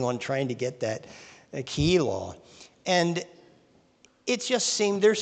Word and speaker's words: Keilah: I used to call that Keilah, but somebody corrected me on that, and I looked at the pronunciation, so I'm working on trying to get that Keilah.